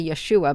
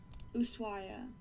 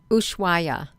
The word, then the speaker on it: Ushuaia: I want to say Yeshua, but it's not Yeshua.